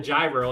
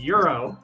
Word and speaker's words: gyro: ever call it a gyro and they're like why I was like cuz I am Greek it's pronounced Euro yeah like Euro my my last name